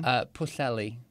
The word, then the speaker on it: Pwllheli: Now, how do you pronounce the town you're from? Pwllheli, which means the river going into the Sea of Salt, which is, yeah, that's what it means.